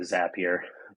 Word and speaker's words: Zapier: making people happier with zapier that's why the name it rhymes with happier in case you ever